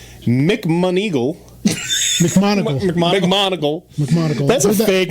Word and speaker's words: McMoneagle: McMonigle. McMonigle. That's a fake name. I've heard that name before. Actually. Joseph McMonigle. It's spelled McMoneagle.